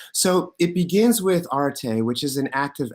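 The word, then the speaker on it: aretē: to introduce you to are arte clayos and temi that's how you pronounce those things right and let's imagine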